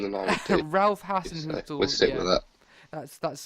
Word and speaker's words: Hasenhüttl: he has been replaced by the ex-Leipzig manager Hasenhüttl, I think. Better pronunciation than I would do. Ralph Hasenhüttl.